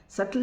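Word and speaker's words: subtle: सल जिसमें एस यू बी टी एल ई B silent होता है।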